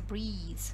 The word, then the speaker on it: breathe: Не забывайте, да, что если это noun, он читается breath, без и в конце, а так он читается breathe, если дышать.